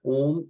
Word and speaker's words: Om: It will start from the bottom of your spine, because Om is, in English, you can consider it as A-U-M.